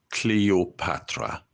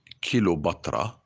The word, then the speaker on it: Cleopatra: Greek Macedonian pic Queen her name is Cleopatra not kobra and not Katra I go with you